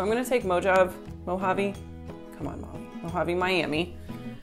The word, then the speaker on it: Mojave: okay okay so I'm gonna take mo job Mojave come on I'm having Miami I need to Google how to pronounce Mojave hormone avi good job that's it okay anyways so I'm